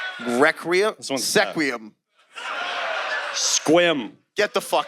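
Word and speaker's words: Sequim: we have SE qu i m re seum squim get the out squ s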